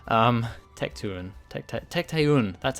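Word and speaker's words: Tecteun: to him however you say her name um Tech 2 and that's how you say it I remember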